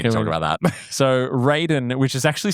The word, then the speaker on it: Raiden: Like it's like Braden or something.